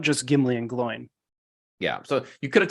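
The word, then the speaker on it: Glóin: come to the council as well right it's glowing and Gimli yeah glowing's there because he talks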